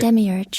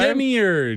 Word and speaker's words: Demiurge: pronunciation right. Demiurge. Okay, you got it right the first time. Demiurge.